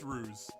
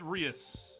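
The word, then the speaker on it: Reus: Yeah, it's not pronounced ruse. It's pronounced Rios because the first name is Mr. Like it's mysterious. I mean, ruse, like, that would make sense, but not as much when it's Mr. Ruse versus Mr. Rios.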